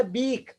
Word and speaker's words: beak: इट्स अ बीक. बीक यानी चोंच. BEAK. जहां पे भी आपका EA साउंड, EA लेटर साथ में आए, सभी को ए की तरह नहीं प्रोनाउंस करना.